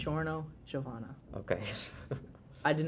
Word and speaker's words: Giorno: do you say it it's just like a j sound Giorno Giovanna just a regular J sound chorno Giovanna okay I did